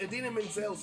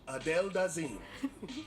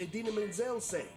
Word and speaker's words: Idina Menzel: During the 2014 Academy Awards show, he mispronounced Idina Menzel's name as she was about to perform her hit song, Let It Go, from the movie Frozen. But he didn't just mispronounce the name, he completely changed it. Hilariously, he called her the wickedly talented, one and only Adele Dazeem.